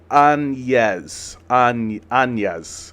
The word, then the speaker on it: Áñez: Woxi Drop House says it's pronounced Áñez. Áñez? Is that not what I've been saying? I've been saying Áñez. Áñez. Thank you, Woke. Appreciate that. Áñez. Right, because that's what that N is doing, right?